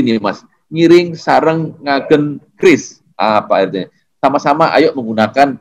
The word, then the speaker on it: QRIS: Ada bahasa Bali nih Mas, ngiring sareng ngagen QRIS. Apa artinya? Sama-sama ayo menggunakan QRIS. Hati-hati, harusnya QRIS di sini ya, bukan QRIS. Kalau QRIS di sini ada QRIS. Jadi bacanya QRIS ya Pak ya? QRIS ya bacanya.